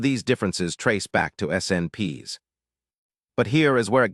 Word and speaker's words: SNP: A SNP, pronounced SNP, is simply a place where one letter in the DNA sequence has been swapped for another.